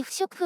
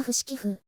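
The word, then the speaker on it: 不織布: んだよく知らないけどそれより不織布って読むんだね知ってた何て呼んでたの譜面付私は不死寄付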